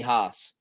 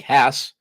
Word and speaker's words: Hass: hesitation people tell me Haas and to think that we would take a word that ends in a double s rhymes with pass like Hass and for some reason